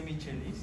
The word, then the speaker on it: Michaelis: Rombo de Michaelis se escribe, pero se lee rombo de Michaelis. ¿Ok? Ya. Bien, entonces, mediante estas tres, Se pronuncia Michelis y escribe Michelis.